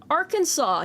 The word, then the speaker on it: Arkansas: about this state uh people who are non-native English speakers probably hate the name of this state because it's not pronounced the way it looks um there it is